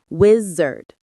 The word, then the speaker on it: wizard: The stress is on the first syllable, whiz. Say it with me, wizard. It's like whiz and then synonyms include sorcerer or magician.